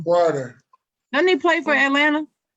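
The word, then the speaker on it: Huerter: It's HU, but it sounds like HW. What? Porter. That's how you say it. That's how you say his name. Porter.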